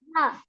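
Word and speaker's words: ح: আচ্ছা, হা হয়েছে, এটা গলার মধ্যখান থেকে চাপ দিয়ে বলতে হবে, হ্যাঁ।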